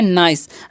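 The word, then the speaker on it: nice: यहां पर आई का उच्चारण आई होगा क्योंकि देखिए आई वोवेल है और फिर से सी कोसोनेंट है और लास्ट में इज़ अ वोवेल है। तो पहले वाले वोवेल का उच्चारण होता है इस तरीके से अगर मिले तो।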